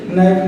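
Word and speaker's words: knife: जैसे देखिए के एन आई एफ ई, जब इसको पढ़ेंगे नाइफ, नाइफ मीन्स चाकू होता है। तो देखिए यहाँ पे के साइलेंट हो गया, हम सिर्फ नाइफ पढ़ रहे हैं।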